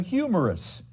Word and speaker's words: humerus: here in your arm is called the humerus like something that is funny is humorous it's called the humorous bone even though it's spelled a little differently all right uh last